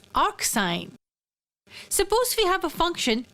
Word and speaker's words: arcsine: be denoted like this it is pronounced as arcsine suppose we have a